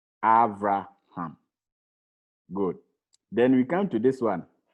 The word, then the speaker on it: Avraham: This is Beit, but there's no dagesh in it, so it is pronounced V instead of B.